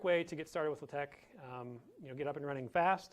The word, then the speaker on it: LaTeX: So first of all, LaTeX is not pronounced latex. It's not the stretchy plastic material. The X, or the final character in there, is the chi, the Greek chi.